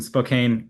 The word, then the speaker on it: Spokane: San Diego, one in Washington, in location in Spokane. Never quite sure how to pronounce that. Originally coming from England, Okay. and one in Pennsylvania. Yeah. Okay. So contract manufacturers in Spokane, which is correct, and Pennsylvania.